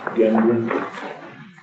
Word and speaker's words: Gendron: I'd like to invite Gendron, and I hope I didn't mispronounce that name. Okay, you came very close. It's Very close. Gendron.